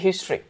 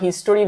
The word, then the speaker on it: history: এটাকে যদিও আমরা হিস্টোরি বলি, মানে ওয়ার্ডটা হিস্টোরি আসে প্রোনাউন্সিয়েট করতে গেলে, বাট এটা আসলে হিস্ট্রি।